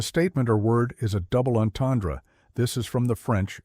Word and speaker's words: double entendre: Double onandra. The ends are nasalized. The R somewhat throaty and the final syllable is barely audible.